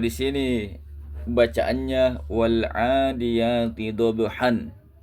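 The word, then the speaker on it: ضَبْحًا: Nah, kalau di sini bacaannya wal adiyati dobhan. Ini tidak dibaca dobhan, akan tetapi dibaca wal adiyati dobha.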